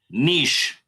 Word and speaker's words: niche: Niche. It's pronounced niche. I've heard from Americans, I quite often hear niche or niche. I never It's said niche. No, you don't say niche.